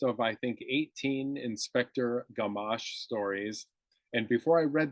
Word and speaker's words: Gamache: This, as I said, it's the first of, I think, 18 Inspector Gamache stories. And before I read the book, I thought his last name was Ganache, but it's spelled with an M, in fact.